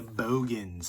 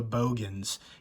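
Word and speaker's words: Boogens: And I remember saying The Bogans, and somebody was like arguing with me. It's The Boogans. Obviously, it's spelled Boogans, but that guy in the movie said Bogans.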